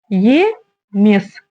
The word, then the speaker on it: емес: материал ДК едем дальше слово емес емес помним о том что как пишется так и читается и прочитать например через букву и или через букву э ведь в русском языке такие варианты возможны здесь мы этого в общем сделать не можем написано е значит и читаем через букву